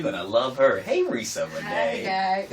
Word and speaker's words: Reesa Renee: Hey, Reesa Renee. Hi, guys. Am I pronouncing your name correctly? You are. Woo. You're like, people usually know. They give you.